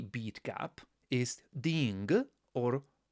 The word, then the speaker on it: ding: Make sure here that you pronounce all the components of this syllable. So it's di n g or ta n g, or otherwise you will quickly get lost, I speak from experience.